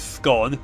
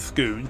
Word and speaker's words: scone: It's scone, not scoon.